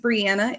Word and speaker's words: Brianna: So, my name's Brianna. It rhymes with Indiana.